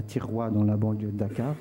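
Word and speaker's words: Thiaroye: Celle à Tiroua. À Tiroua. Oui, c'est dans la banlieue de Dakar. Alors ça s'écrit T-H-I-R-O-Y-E.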